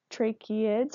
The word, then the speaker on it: tracheids: I put the pronunciation it's a little tricky for some people to pronounce so that's why I put on their trachea it's like your trachea tracheids windpipe so they have